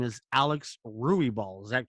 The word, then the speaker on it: Ruibal: this young woman, and her name is Alyx Ruibal. Is that correct? I say Ruibal correct, so we all get it right in the future?